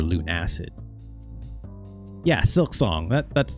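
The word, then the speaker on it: Lunacid: did I forget that believe it's pronounced Lun acid okay or Lun acid yeah silk song that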